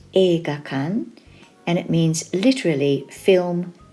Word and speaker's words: 映画館: kanji for cinema in this video tutorial it's pronounced e gakan and it means literally film building erga is